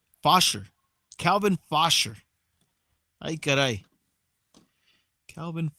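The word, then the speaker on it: Faucher: As we go to the bottom of the ninth, Calvin Fosher. 11th game, 1-1 record, 3.86 ERA for the Marlins. Right-hander Calvin Fosher. How would you pronounce that? F-A-U-C-H-E-R. Fosher? Fosher.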